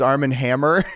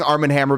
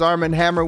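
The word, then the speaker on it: Arm & Hammer: The deodorant you use is Arm and Hammer. So so up. I I love hate this. I think that I was saying Arman Hammer because it rhymes with glamour.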